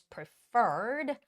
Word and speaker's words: preferred: and preferred the stress goes on the second e which is preferred appointment time we will